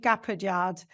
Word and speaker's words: Gapaillard: Today's guest is Gapaillard, and I'm so delighted to welcome you.